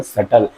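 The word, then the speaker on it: subtle: पांचवा क्या है, वो उसको सटल। इसको इसमें आपको मिलेगा बी साइलेंट मिलेगा। ठीक है, बी साइलेंट मिलेगा आपको इसमें।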